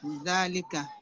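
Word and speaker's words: ذلك: Zalika is pronounced zalika, but it is written without the alif.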